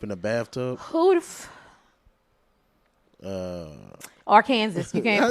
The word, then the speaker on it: Arkansas: Who the Arkansas. You can't pronounce it Arkansas.